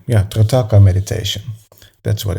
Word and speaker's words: Trataka: technique I'm going to teach now is called Tracata Meditation, if I pronounce it correctly. Yeah, Trataka Meditation.